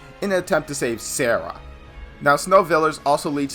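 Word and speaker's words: Serah: Lightning Sister Sarah, that is spelled S-E-R-A-H, not how you usually spell Sarah, I know, it's weird, had found the fal'Cie from Pulse and has been changed into a Lissie.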